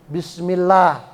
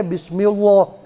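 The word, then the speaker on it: بسم الله: Tapi kalau huruf sebelumnya itu berharokat kasroh, maka dibacanya tarkik ringan. Contohnya Bismillah. Ya. Bismillah itu lafaz Allah, sebelum lafaz Allah ada huruf mim, kasroh, mi, bismi. Ya. Maka lafaz Allahnya bacanya la, Bismillah. Nggak boleh Bismillah gitu ya, nanti salah.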